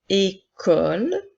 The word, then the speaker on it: école: La lettre E accent aigu fait le son E, la lettre C fait le son K, la lettre O fait le son O, la lettre E, L fait le son L, et la lettre E, nous ne la prononcerons pas encore une fois puisqu'elle est à la fin du mot.